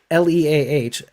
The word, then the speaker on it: Leah: holes in the whole leia's imaginary thing or leah it's leah right the opening minutes